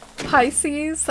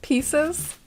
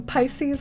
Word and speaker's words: Pisces: be uh corrected on pisces i used to say it like pieces my family likes to